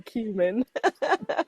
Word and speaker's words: cumin: And yes, it was supposed to be cumin. Yeah, that's good. The U has an ooh sound, my friend. It's a U.